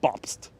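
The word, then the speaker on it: Bobst: was this elmer holmes bopst that's how you say it that's how you pronounce it officially it's gotta really get into that st it's a library it's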